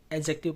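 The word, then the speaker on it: adjective: ए डी जे, जे के तुरंत बाद जो, सॉरी, तुरंत पहले जो डी आता है ना, उसका हम लोग उच्चारण नहीं करते हैं, एडजेक्टिव पढ़ते हैं।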